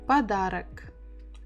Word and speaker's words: подарок: So stress the second syllable, подарок. And it means that this one we will pronounce as A, and this one we will also pronounce as A because they are not stressed.